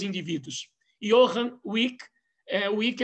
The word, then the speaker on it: Wick: Johann Wick, Wick é na verdade, se tem ali o ezinho, mas a pronúncia alemã termina Wick mesmo.